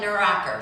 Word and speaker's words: Nuracker: thing we said was, how do you pronounce our last name? And they said Nuracker.